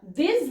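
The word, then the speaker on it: vingt: की ठीक है तो ये हो जाता है वा वी आई एन जी टी वा इट्स 20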